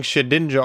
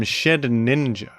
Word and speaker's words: Shedinja: As far as Z U ranked Pokémon goes, Shedinja is probably among the most well-known and the most celebrated for its truly one-of-a-kind identity.